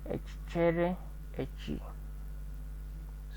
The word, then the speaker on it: ekichere echi: We have another word, ekichere echi, this toad. So we remove a and we make it ekichere echi.